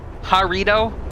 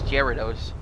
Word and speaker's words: Gyarados: Harito? No, dude, it's Gyarados.